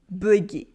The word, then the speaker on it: bugué: In everyday spoken French, though, we can use the anglicism bugué, bugué. Yes, with this very French pronunciation.